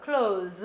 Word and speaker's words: clothes: 자, 발음 주의하시고요. 이거 발음은 clothe예요. clothes 해서 이거는 옷이라는 뜻이 되겠습니다.